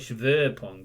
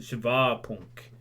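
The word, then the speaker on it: Shivapunk: call it i think i used to call it shiver punk and it's a shiva punk i got told by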